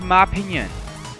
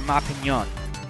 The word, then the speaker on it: Ma Pignon: I'm not totally convinced that that's how you really pronounce it. But, you know, I sort of figured that little GN thing is sort of the Italian pronunciation. Like a lasagna, it's the Ma Pignon.